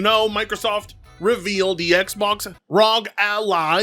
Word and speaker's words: Ally: As you know, Microsoft revealed the Xbox ally. Yes, ally, not Ali.